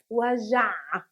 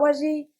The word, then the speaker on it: وجع: وجع. وجع. Not وجع. Not وجي. وجع. Choke yourself a little bit at the ending and you'll be okay.